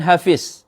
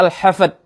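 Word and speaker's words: الحفد: lafaz Yang kedua juga bukan Hafiz atau surah Hafiz dengan D tetapi dengan Dal yaitu surah al-hafad ha Fa Dal bukan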